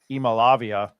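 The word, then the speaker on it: Iamaleava: um Nico e i I learned how to pronounce it earlier in the year Nico e malavia uh probably looked you know like a Heisman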